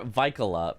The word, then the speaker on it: Vikala: Just saw an Aggie chatter say, naming my daughter Vikala, pronounced like Michaela.